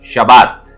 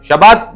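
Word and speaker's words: שבת: மிகவும் பழக்கப்பட்ட ஒரு வார்த்தை ஷபாத் ஷபாத் மீன்ஸ் ரெஸ்ட் ஷபாத் என்ற எபிரேய வார்த்தைுடைய எழுத்துக்களை உச்சரிக்கிறேன் ஷீன் காமட்ஸ் பேத் பெட்டா டவ ஷீன் பேதவ ஷபாத் இஸ்ரேலுடைய ஒரு உளவு பிரிவிருக்கு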